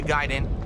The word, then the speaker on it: Gaiden: ninja Gan ninja giden Hoy properly pronounced ninja giden ho I cannot